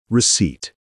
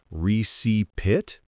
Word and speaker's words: receipt: The letter P in receipt is silent. We don't pronounce it at all.